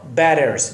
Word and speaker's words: batters: batters دو تا تی پشت سر هم، دو طرفش هم حرف صدادار باشه، تی ها رو با هم آر محزون تلفظ میکنیم در امریکا.